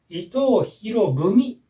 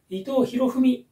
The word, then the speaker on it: 伊藤博文: これはですね伊藤博文と読みますね濁ってください伊藤博文ではなく糸を拾う文と